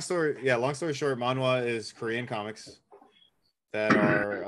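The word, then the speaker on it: manhwa: linked it actually in the zoom chat it's pronounced manwa yeah so long story yeah long story short manwa is Korean comics that are um basically like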